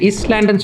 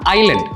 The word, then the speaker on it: island: அந்த எஸ் இருக்கிறனால நிறைய பேர் இஸ்லாண்டுன்னு சொல்கிறதுக்கு வாய்ப்பு இருக்குது, இல்லைனா ஐஸ்லாண்டுன்னு நிறைய பேர் சொல்லுவாங்க. ஐஸ்லாண்டு டோட்டலி வேறு. இந்த வேர்டு வந்து எப்படி ப்ரொனவுன்ஸ் பண்ணோம் அப்படின்னு பார்த்தீங்கன்னா ஐலண்ட். அந்த எஸ் வந்து சைலண்ட், அதை நீங்கள் வந்துட்டு ப்ரொனவுன்ஸ் பண்ண வேண்டாம், இட்ஸ் கால்ட் அஸ் ஐலண்ட்.